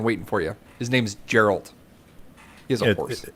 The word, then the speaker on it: Geralt: His name's Geralt. He has a horse. It's pronounced Geralt, but yes, I agree with what you're saying.